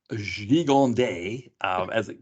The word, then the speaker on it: Gigandet: So Cam Gigandet, so Fancy. according to the trivia, IMDb trivia, that's how you're supposed to pronounce it.